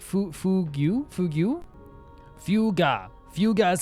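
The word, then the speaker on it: Fugue: Fuga is how you pronounce it.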